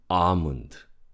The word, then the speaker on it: almond: Almond. Almond. Again. Almond. plumber. Plumber. So the B is silent.